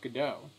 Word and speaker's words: Godot: go down it because it's not pronounced code out it's pronounced Godot there's a whole point of calling it Godot is that it's a play off of the play play off the play so the name is